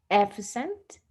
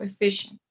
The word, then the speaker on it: efficient: and this one here efficient okay in this case the stress goes in the second one so efficient efficient so how can i